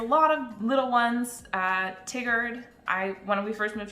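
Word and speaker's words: Tigard: into canvas cooch street for instance spelled couch pronounced cooch it's willamette not willamette uh there's a lot of little ones uh tiggered i when we first moved here i said tigered when we were actually in the city and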